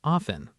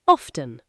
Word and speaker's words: often: Some people pronounce often with a silent T, like often. Others pronounce the T clearly, often.